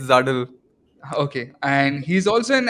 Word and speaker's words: Zuddl: Am I pronouncing it correctly? Is Yeah, it you're close. It's Zuddl.